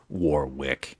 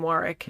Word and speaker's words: Warwick: you kind of like just assume it's going to be War Wick yeah well you know what's funny is we did watch that documentary about him and he was on that amazing uh show where they went around the world with uh what's his face Ricky J um produced they they did pronounce his name Warick yeah so Warick okay got it so we